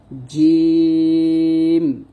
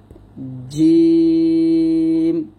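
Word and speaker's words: جيم: সঙ্গে লাগিয়ে উচ্চারিত হয় জিম, সরি এখানে জিম, শিন, ইয়া, এরকম। অর্থাৎ জিম যখন উচ্চারণ করবেন সতর্ক থাকবেন, জিম উচ্চারণ করার সময় জিহ্বা যেন কোনোভাবে দাঁতে না লাগে, দাঁতে লাগানো যাবে না।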